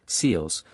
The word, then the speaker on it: SELS: In 1952, the severe local storms unit known as SELS and pronounced SEALs was established within the US weather bureau in Washington DC.